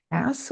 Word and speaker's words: Hass: Now, I thought they changed it to some unfortunate or made a typo to Hass, but no, it's supposedly always been Hass, which doesn't make any sense.